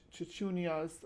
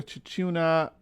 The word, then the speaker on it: Chuchuna: However you saying it, it's spelled ch h u c hu n a here. I'll show you guys. This is from Bigfoot Encounters, but that's how that's how it's spelled right there.